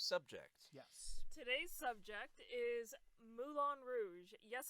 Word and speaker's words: Moulin Rouge: Today's subject is Moulin Rouge. Yes, I know that's not how you pronounce it in French, but I don't care. That's how they pronounce it in the movie. It's actually Moulin Rouge.